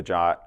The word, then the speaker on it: JWT: is a subtle one so JWT pronounced ja stands for JSON web token this is